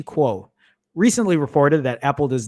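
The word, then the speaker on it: Kuo: fact ming chi cool how do you pronounce k-u-o please i want to i want to do that properly quo ming-chi quo recently reported that apple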